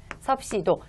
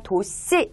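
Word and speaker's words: ℃: 자, 요것을 섭씨 온도라고 하면서 요걸 어떻게 읽냐면 섭씨도라고 읽습니다. 섭씨도, 10섭씨도. 근데 사실 그냥 도씨 이렇게 표현해도 되겠죠? 자, 일단 정확하게 읽는 거 쓰고 있는 방법을 이렇게 써드렸고요.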